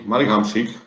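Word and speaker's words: Marek Hamšík: rely upon um guys definitely marigam chic is pronounced in my language so oh yeah that's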